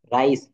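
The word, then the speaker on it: rice: বিশিষ্ট শব্দগুলো যখন আহ ভিতরে এমনটি থাকবে তখন উচ্চারণটা কি হয় আমরা একটু খেয়াল করি। MICE, মাই ইস, ইঁদুর। রাইস, চাউল।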